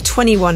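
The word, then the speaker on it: 2NE1: called cuz there's a they're spelled it's spelled 2 NE E1 so 2 ne1 someone people call them 21 as well yeah it's a bit confusing let's just call them 21 drill of thumb if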